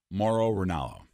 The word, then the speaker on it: Mauro Ranallo: Mauro Ranallo.